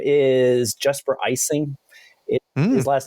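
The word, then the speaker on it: Ejsing: His name is Jesper Icing. His last name is EJ Sing. EJ Sing, but it's pronounced like icing on a cake.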